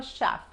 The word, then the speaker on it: chef: I'm a chef. Fíjense que chef en inglés se pronuncia como SH.